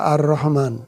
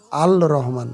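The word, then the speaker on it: الرحمن: না সোজা ব্যাপার তারপরটা আর রহমান এটাও তাই র হল শামসা হরফ এজন্য লামের উচ্চারণ হলো না আর রহমান আর রহমান আল আল রহমান হবে না আর রহমান পরেরটা দেখুন কামারিয়া কামারিয়া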